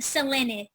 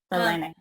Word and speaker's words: Selene: And my name is actually pronounced Selene. Selene. Yes, there's no way to know unless you hear me say it.